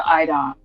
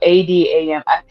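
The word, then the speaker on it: a'dam: The IDOM? No, ADAM. See, this is where me listening to the books and reading the books kind of like, I think I remember it being pronounced as ADOM or IDOM, something along those lines. But it's like ADAM.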